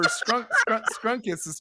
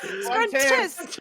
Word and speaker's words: Scruntus: It's Scruntus. Rhymes with Scruntus.